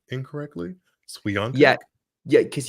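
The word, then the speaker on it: Świątek: saying her name incorrectly santic yeah yeah because you have to pronounce the W like a V santic yes okay that's it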